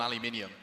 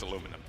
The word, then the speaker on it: aluminum: nice and that's might even get started on aluminium oh no it's aluminum and it's a garage you pronounced it wrong for so long you added